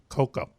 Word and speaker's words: Coco: Coco.